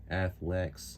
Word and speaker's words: Athlex: been the uh casology athlex am I pronouncing that right a yeah like a athletic athlete athlex yeah athlex midnight black case for